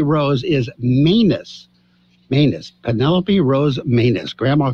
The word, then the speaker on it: Manus: Penelope Rose Manus. Grandma called and made me correct that. So it's pronounced again. Manus.